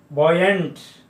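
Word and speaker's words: buoyant: होता है जैसे, और बॉयंट। इस प्रकार से यू के साथ में ओ मिलने पर ऑय और प्रोनाउंसिएशन होता है।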